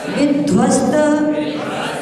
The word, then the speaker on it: विध्वस्त: विध्वस्त विध्वस्त धा का उच्चारण दोनों तरफ करेंगे।